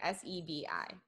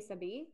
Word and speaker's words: Sebi: Sebi. I think that's how you say it. S-E-B-I. I want to say Sebi, but.